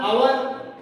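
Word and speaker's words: hour: इसके अंदर आवर, यच इसके अंदर साइलेंट है।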